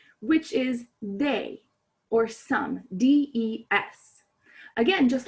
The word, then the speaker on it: des: is they or some d-e-s again just like lay it's normally pronounced they like the english they um but it's spelled d-e-s that s is normally silent on the end of the word however when it's followed